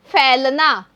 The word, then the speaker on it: फैलना: बच्चों जो आई की मात्रा है उसको जब हम वाक्य में बोलते हैं तो वो अ की ध्वनि देती है तो इसको हम बोलेंगे फैलना।